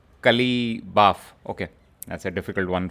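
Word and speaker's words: Qalibaf: Iranian parliament who has said this, Mohammad Bagher Kalibak, Kalibaf. Okay, that's a difficult one for us to pronounce.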